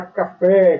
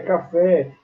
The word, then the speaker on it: café: Assim como a palavra café, café, a sílaba tônica está na última sílaba, é oxítona.